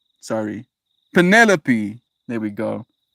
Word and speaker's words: Penelope: It's like the names Calliope, Penelope, Persephone. The accent is one of the second syllables and the final E is pronounced. Hyperphony. Persephone. Sorry. Penelope.